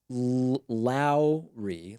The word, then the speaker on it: Lowry: It's pronounced Lowry, like loud. Run for office, you have my vote.